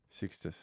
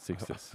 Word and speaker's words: Sixtus: Spell it again. Six. Yep. Tus. Tus. Tus. Sixtus. As I said, Sixtus.